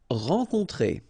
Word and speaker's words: rencontrer: Rencontrer. Alright, so keep in mind, en, on, on, rencontrer. Rencontrer.